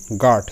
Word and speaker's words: guard: যেমন গার্ড, GUARD গার্ড, এখানে GU দুটো মিলেই জাস্ট একটা বর্ণের উচ্চারণ হবে, সেটা হচ্ছে গ এর মতো উচ্চারণ হচ্ছে, GU এখানে গ এর মতো উচ্চারণ হচ্ছে, তো গার্ড।